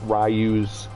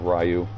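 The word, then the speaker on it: Ryu: the pallet swap of Rayu. And yes, I still call him Rayu because that's how we always pronounced it in the arcades.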